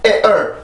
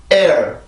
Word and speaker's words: air: air 이런 게 아니에요. 앞에서만 긴장을 하고 뒤에서는 소리를 풀어요. 즉 성대를 풀려준다라는 얘기인데 소리 흔적만 남겨주는 거죠. 자, 해봅시다. air.